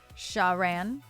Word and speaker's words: Sharan: I absolutely love if you're here, you can say it like the first syllable goes sha. Sharon. Like from the word shut. And then the second syllable goes as ran, as in run. Sharan.